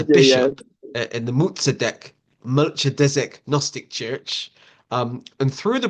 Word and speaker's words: Melchizedek: Okay, so you've recently been consecrated as a bishop in the, I would pronounce it, Melchidezek Gnostic Church, but I think you pronounce it as Muzadek. Melchizedek.